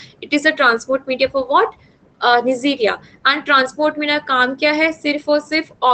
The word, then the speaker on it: Neisseria: नाम में है निजीरा में, that is वी कैन pronounce it as Neisseria, so that is Ames transport media, and another is what, the Stewart's transport media.